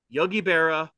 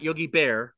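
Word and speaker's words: Yogi Berra: close lastly number 10 Yogi Bea definitely not Yogi Bear but Yogi be and there you go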